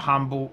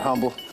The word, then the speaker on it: Humble: piece of humble pie the way you pronounce that word of course it's a silent h that makes total sense